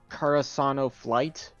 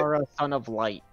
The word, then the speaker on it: Kara Son of Light: So the guy in the chat room, I've been reading his name wrong the whole time, because I was thinking it was Karasano Flight, but it's Okay. Kara Son of Light.